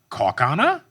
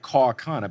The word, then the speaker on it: Kaukauna: I said like Kaukauna, but they said like Kakana, right?